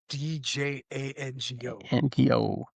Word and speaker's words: Django: And it's and it's very quotable where you say Jenko Dja No. The D is silent.